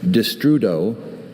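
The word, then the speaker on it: destrudo: Uh could you repeat the pronunciation? Distrudo.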